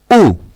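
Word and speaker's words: aux: দেন আসছে আ প্লাস লে, আ প্লাস লে, এটাকে কন্ট্রাক্ট করে হবে হচ্ছে উ, এ ইউ এক্স, এটা উচ্চারণটা হচ্ছে উ।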